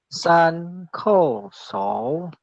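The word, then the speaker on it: 三叩首: Jadi kita bacanya kalau 3 sembah sujud berarti san ko so, ya seperti yang di layar sudah tertulis yang letter merah ya.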